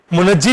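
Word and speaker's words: منجی: तो ज्यादा जो प्रोनाउंसिएशन हमारे पास दुरुस्त है वो मुंजी लफ्ज है, मगर ज्यादा मुनजी भी चलता है।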